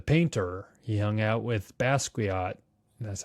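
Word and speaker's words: Basquiat: He hung out with Basuat.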